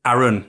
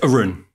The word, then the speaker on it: Arun: much for our audience it is Aaron isn't it it's Arun Arun yeah Aaron and Aaron we were talking before the show actually how um you wanted it to be pronounced properly after about 25 because most people kind of couldn't they most people pronounced your name like they pronounce my name right during your childhood